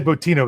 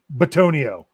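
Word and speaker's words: Bitonio: I always say Botino. That's wrong. It's Batonio.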